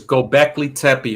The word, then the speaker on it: Göbekli Tepe: So for example, there was a new discovery recently in Turkey called Göbekli Tepe. Now, MD, if I might be pronouncing that wrong, Yeah. I think it's Gobekli Tepe.